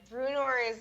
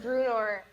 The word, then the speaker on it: Brunore: the sea serpent so we've always said bruno the sea serpent oh um but we've just been saying it wrong it's actually brunor the sea serpent one word yeah it's all that's actually